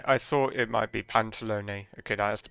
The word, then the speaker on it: Pantalone: Right, I thought it might be Pantalone. Okay, that is the pronunciation then.